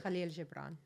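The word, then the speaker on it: Kahlil Gibran: I want to say it was Khalil Gabbron. I could be wrong. He had Khalil Jabbrron. That's how you say it.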